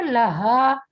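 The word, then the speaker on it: لها: एक चीज का ध्यान रखिए, एंड का जो वर्ड है ना लहा, ये आराम से प्रोनाउंस हो जाता है. जब आप कहती है ना लहा, तो वो हा पे तशदीद की साउंड आ रही है हर आयत के एंड पे.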